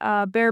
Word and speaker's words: Bexar: Instagram, my Instagram handle is slimthick64, or you could just find Bear Barbell, but it's Bexar, just pronounced bear, but or a website, or if you're local to San Antonio, you can come find us at the gym.